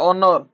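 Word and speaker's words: honour: ना ऑनर सर कहला ऑनर ऑनर माने ए साइलेंट रोज ऑनर ए साइलेंट होला पर हेड आवर थिला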